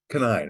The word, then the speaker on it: Kanine: Is it Jennifer Canine or Canine? Canine, I would think. Canine.